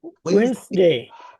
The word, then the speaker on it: Wednesday: Wednesday.